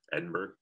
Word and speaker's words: Edinburgh: things edinburgh edinburgh yeah garden of eden but it's pronounced edin here edinburgh so when you get